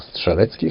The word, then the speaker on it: Strzelecki: They date back to 1840, where Polish explorer Paul Edmund Strzelecki, or Strzelecki, how we pronounce it, climbed the highest mountain